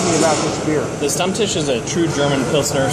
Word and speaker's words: Stammtisch: me this beer, and I am having the Stammtisch. Tell me if I'm pronouncing that right, Kai.